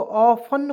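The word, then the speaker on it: often: यहाँ पे देखिए ऑफ्टेन, ऑफ्टेन, बहुत लोग ऑफ्टेन पढ़ लेते हैं, यार ऑफ्टेन पढ़ना गलत है। क्यों गलत है, क्योंकि इसमें टी हम लोग साइलेंट रखेंगे तो ऑफन पढ़ेंगे जी, ऑफन, ओ एफ टी एन, ऑफ्टेन नहीं, ऑफन, ठीक है ना।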